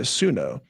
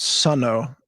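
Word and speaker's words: Suno: first introduced me to Sunno which I understand is actually pronounced Sono by the founder but whatever we all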